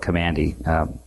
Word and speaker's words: Kamandi: was a comic called Kamandi and it was a spell that kam a and di okay it's command e the last boy on